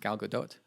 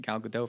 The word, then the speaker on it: Gal Gadot: that you know what her name is pronounced gal gadot i had no idea i was saying it from cal Godot for the longest time and then I watched